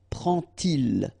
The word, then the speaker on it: prend-il: And so this little d here is in red just to show you that you won't pronounce it like d to make the liaison, but you will pronounce it like t.